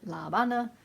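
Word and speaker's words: La Habana: for me to pronounce as a Spanish teacher I want to pronounce it La Bana but that in amongst all the English also sounds weird so we're gonna go with Havana right now but this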